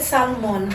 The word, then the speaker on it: Salmón: I I pronounce it Salmon. Salmon, okay. Yeah, but I will answer to Salmon.